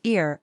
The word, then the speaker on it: ir: depending on the pronoun for IR pronounce it as ear like and cheer do here's how we